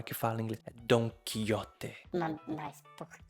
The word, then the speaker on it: Don Quijote: pronunciada da forma correta Don quiote é um nome espanhol eu sei como pronunciar não tem tradução pro inglês por que que eu pronunciaria de uma forma errada mas aí você pergunta